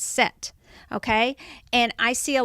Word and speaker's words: Set: SCT or SC th the Egyptians didn't pronounce that H so it's set okay and I see